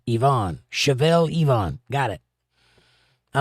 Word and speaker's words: Leon: Chevalier Leon says, Chevelle, pronounced like the car, and Yvonne.